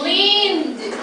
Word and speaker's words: leaned: So the ED sounds like D, leaned.